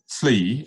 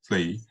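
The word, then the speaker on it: Fleys: So we'll move on to Fleay, F-L-E-Y-S, but pronounced as two syllables, Fleay.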